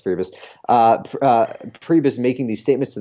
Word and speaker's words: Priebus: or Priebus, I don't even know how it's pronounced, Priebus doing the Yeah, it's Priebus.